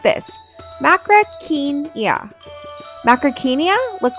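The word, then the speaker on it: Macrauchenia: Macrainia, you say it like this, macraenia.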